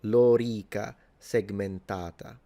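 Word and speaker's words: lorica segmentata: precise phmic vowel length, the this vowel the o and the e are both long. So it's lora and then segmentata. So this a is long. So, Lora Segmentata is how you pronounce it.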